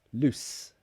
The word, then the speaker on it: loose: not tight it is loose that is the S sound it's an unvoiced sound loose loose like Lucy without the e loose but the opposite